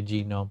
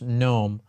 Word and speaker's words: GNOME: chat and also have it I always say gome sorry um I'll post the link here into